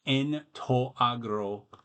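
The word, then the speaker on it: ἐν τῷ ἀγρῷ: You don't pronounce the iota, although a few centuries before Plato, let's say, before the classical period, it would have been pronounced.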